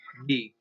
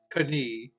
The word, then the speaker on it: knee: If a word begins with a K, there are some exceptions, like here's one, knee. It's not knee, it's knee, okay?